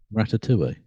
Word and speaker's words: ratatouille: Ratatouille. Oh, Tui. Sorry, I was putting the L's It's in.